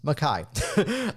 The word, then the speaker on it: Mackay: Take note, it's not Mackay, it's spelled that way, but it's Mackay.